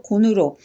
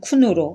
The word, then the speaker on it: 鯀: 이 다섯도 오늘날 오이 고자일 따뜻할 온에서 받침으로 오오 니온을 합하면 곤으로 하셨으며 한국식 발음으로 곤으로 한어 방음으로는 쿤으로 하였습니다.